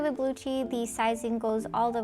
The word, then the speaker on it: Belucci: All right, next up on the list is Belucci. Belucci? I think you pronounce it like Gucci, so I'm hopefully I pronounced it right.